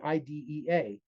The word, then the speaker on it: IDEA: referred to as the IDA, even though Congress renamed it in two, it doesn't matter. Nobody in the public schools pronounces it as IDEA. If you do, it'll mark you as an outsider.